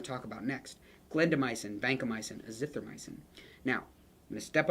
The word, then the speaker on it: azithromycin: Glendamycin, vancomycin, azithromycin. Now, I'm going to step on a soapbox here and say it is not, there's no O in this at the end. It's not myocin, it's azithromycin.